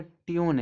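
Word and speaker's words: tune: कह रहा यदि पूर्ववर्ती स्वर यू हो तो यू का उच्चारण बड़ा ऊ या यू होता है। अंतिम इ का अपना कोई उच्चारण नहीं होता है। ठीक है? देखो यहां रूल लिखा है रूल। तो इस रूल में देखो यू है। तो यू इस यू का उच्चारण देखो यहां पे बड़ा ऊ निकल रहा है। ई का कोई उच्चारण नहीं।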